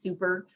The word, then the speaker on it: SUPER: interaction um with families it is pronounced super um and again those